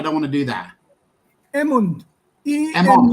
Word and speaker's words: Emund: Emund.